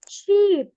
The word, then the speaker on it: sheep: Sheep. Sheep. Sheep. Sheep. I-nya panjang ya.